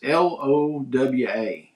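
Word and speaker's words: Lowa: Is it low or low? It's Lwa boots.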